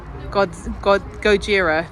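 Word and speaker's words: ゴジラ: Gojira, that's how you say it in Japanese. Gojira.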